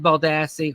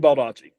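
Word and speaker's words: Baldacci: subject roal doll always David balasi or Lee Child David balachi that's how you pronounce yeah my mother's keeper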